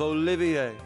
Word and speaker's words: Olivier: am the drifting poet and seeker of love olivier he wouldn't do for passerby to mistake me